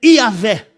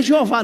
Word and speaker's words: Iavé: Que a gente não sabe a pronúncia direito, mas vamos ficar com a pronúncia mais técnica, que é Iavé. Não é Jeová não, tá? Jeová, de todas, Jeová é a menos provável.